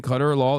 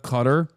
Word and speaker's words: Qatar: You are pronouncing Qatar wrong. You keep saying Qatar law instead of Qatar.